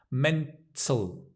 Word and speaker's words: mental: Mental, tal, tal. It's the, your tongue kind of goes under. It curls under.